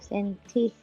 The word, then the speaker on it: 센티미터: 이 단위 넓이를 1제곱센티미터라 쓰고 읽을 때는 1제곱센치, 센치가 아니고 센티, 센티미터라고 읽습니다.